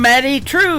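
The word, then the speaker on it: Madye Trew: That is a brand new single from Maddie True. It is M A D Y E on her first name and True is spelled T R E W. Matty True.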